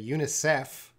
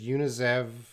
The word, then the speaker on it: UNICEF: General UNICEF executive director he's blending a little too much here he says Eunice he's you know in English we say UNICEF but he kind of says unizav ex units is blending UNICEF executive and I think he loses